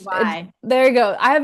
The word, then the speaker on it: Nage: Oh, my last name is Yes, Nage, Nage. Naj.